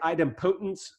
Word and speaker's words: idempotence: Some people say idempotence. I think idempotence is the right way to say it, but nobody really knows.